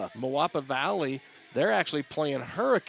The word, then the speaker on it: Moapa: Moapa Moapa Valley.